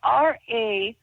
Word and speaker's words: Rahu: I spelled it R-A-H-U. Rahu. It's like Rahu. And Rahu.